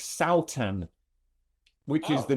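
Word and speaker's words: Sátan: Um Oh, was that the Satan Festival? Yeah, it was. And I I I asked them um you know how is it pronounced? Surely it's not Satan, right? And it's not. It's Saan, which is the name it's the name of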